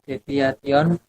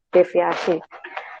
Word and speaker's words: deviasi: simpangan baku atau standar deviation, dan yang keempat konvensional. Oke, bukan deviation ya, cara bacanya standar deviasi.